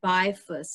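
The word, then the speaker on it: Bielfuss: Rob Bifus, and it's like B as in boy, I-E-L, there's a silent L in it, F-U-S-S.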